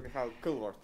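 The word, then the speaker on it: Mihhail Kõlvart: This is Mihal Kõlvart. Did I pronounce that right? Hello. Nice to meet you. Mihal Kõlvart. Kõlvart. I was close.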